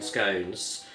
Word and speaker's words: scone: So you don't have that much sugar in scones, and it is pronounced scone as in bone, if you're wondering.